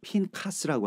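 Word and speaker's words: Phinehas: 우리에게이 비느하스라고 하는 토라포션 이건 그 히브리 발음으로는 핀 카스라고 하는데이 말씀을 주시면서 비느하스라고 하는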